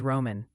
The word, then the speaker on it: Roane: Boerne, Texas is Bernie, Meigs County, Tennessee is Megs, and Roane County, Tennessee is Roman.